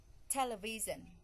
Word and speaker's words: television: first the first syllable television television the first syllable English the stret put